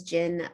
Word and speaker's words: Jin: My mom's name is Jin, so there's some, I was like, Ginny, Jin, it's very kind of sweet, spelled with a J, J-I-N.